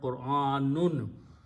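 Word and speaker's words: قرآن: In either case, most of the people say this word wrong. They say Quran, Quran. It is not Quran. Qur'an. Qur'anun. If you stop, it says Qur'an, not Quran. Okay. If you say Quran, that means you are saying combining these two and say Qu.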